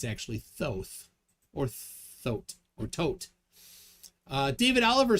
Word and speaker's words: Thoth: we got uh corbinx's thoth is pronounced tote h's are silent in seth